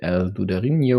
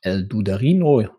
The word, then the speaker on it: El Dudarinho: Um, so we have Matia 120 versus Lucus and we'll meet El Dudarinho or or El Dudarino depending on whether you would pronounce this Spanish or German, Austrian, whatever.